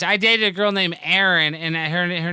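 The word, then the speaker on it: Eireann: dated a girl named aaron and her her name was in gaelic so it was e-i-r-e-a-n-n instead of e-r-i-n it was aaron it was so hard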